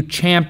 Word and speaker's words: champ: get it right also you don't chomp at the bit you champ at the bit which